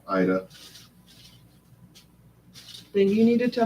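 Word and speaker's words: Aida: I thought it was Ada. No, Ida.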